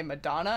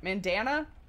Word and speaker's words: Mandana: Mandana? Mandana. Sounds so close to Madonna.